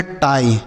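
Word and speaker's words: tie: टी आई ई इसे हम पढ़ेंगे टाई। ठीक है? तो अगर किसी भी शब्द के लास्ट में आई ई लिखा रहे तो उसे आई पढ़ते हैं।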